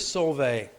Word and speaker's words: Soave: I'm going with Soave, Soave. Sounds like sorbet. Or Soave, because it could actually be 3 syllables.